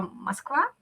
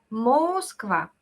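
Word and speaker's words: Москва: la misma broma del nombre de la ciudad Moskva, se escribe con U, ¿verdad? Moskva. Lo normal sería llamarla Moskva, algo A, pero anormal.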